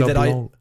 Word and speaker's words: LeBlanc: He did one movie LeBlanc. You don't pronounce the C.